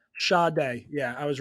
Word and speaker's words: Sade: that up I'm pretty it's not Sade there's definitely no way why can't it be shade it's spelled s-a-d-e look at how is how is it pronounced Shaw day yeah I was right